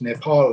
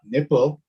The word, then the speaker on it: Nepal: for example you know it's nepal not nipple it incidentally was what